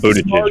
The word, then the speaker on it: Buttigieg: Buttigieg. It's pronounced Buttigieg, but yeah.